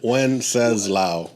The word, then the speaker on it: Wenceslao: It's not a one-syllable name. Yeah. Wenceslao. That's why I brought it out to one syllable.